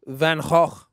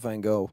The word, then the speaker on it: Van Gogh: what I saw was Van hog which is how you actually pronounce his name not Van Gogh yeah whatever it's Vanguard